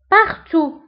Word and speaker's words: partout: Partout يعني nulle part العكس نتاعها أو الكونتخير نتاعها هو partout. Partout في كل مكان, في كل مكان. Partout أيضا partout نكتبها في الت في آخر الكلمة ولكن لا ننطقها.